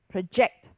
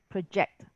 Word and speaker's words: project: So it drops to a schwa again, pr, becomes, instead of pro, it's project, project, right?